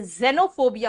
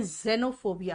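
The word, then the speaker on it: xenophobia: इसका प्रोनाउंसिएशन कई बार ज भी लिखता है, इसलिए जेनोफोबिया होता है इसका. लेकिन यहाँ एक्समस, एक्सरे, लेकिन यहाँ पे एक्सेनो नहीं है, यहाँ पे जेनोफोबिया है, इसलिए ज प्रोनाउंसिएशन हुआ यहाँ पे.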